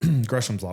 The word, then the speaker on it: Gresham's law: want to say Gams raw gam Gram's law gresham's law which is this concept that bad money pushes